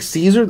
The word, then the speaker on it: Szczur: where that goes to Mike Caesar oh that's how you pronounce it no yes Gregory Polanco